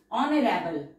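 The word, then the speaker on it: honourable: ऑनरेबल ऑनरेबल ऑनरेबल एच हमारा silent है, एन के साथ आर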